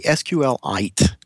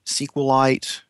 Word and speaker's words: SQLite: name of the product I say sqlite like a mineral okay but I also hear a lot of people say sqlite and SQL light and you know I